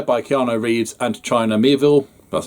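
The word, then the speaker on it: Miéville: So starting off with August's Book of the Month, The Book of Elsewhere by Keanu Reeves and China Mieville.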